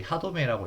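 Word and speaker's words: 歯止め: 이게 하도메라고 읽는데 하도메가 카카란 아이 제동이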